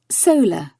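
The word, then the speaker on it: saola: Solar, pronounced so-la, is related to antelope and cattle, and has only been seen 4 times in the wild.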